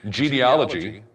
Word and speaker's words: genealogy: You can go to ccld.us, genealogy, Genealogy. Or is it Ologgy? Genealogy. No, it's Aloggy.